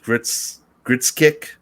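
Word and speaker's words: Grzesiek: I'm not pronouncing his last name. It's Gritskick.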